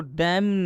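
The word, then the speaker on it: damn: कितना लोग इसको डैम पढ़ देते हैं? नहीं, ये गलत हो जाएगा। डैम, एम के बाद एन आया है इसलिए इस एन का उच्चारण नहीं होगा।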